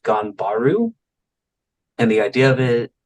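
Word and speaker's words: 頑張る: to the seventh and final technique and it's pronounced ganbaru and the idea of it of it is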